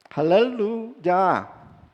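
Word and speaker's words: הללויה: Eh, su origen es hebreo y se pronuncia jalela, jalelu ya.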